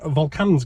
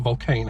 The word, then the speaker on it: Volcane: hell have all of all k vulcans gone which is how you say it not volcano how i've been saying for years and it's a good